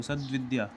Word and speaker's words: सद्विद्या: अब देखिए आधा पूरा पहचानेंगे कैसे, जब हम इसका उच्चारण करेंगे, बोलेंगे, तो सद्विद्या, द आधा उच्चारित हो रहा है, तो जो बोला जाता है वो सही है।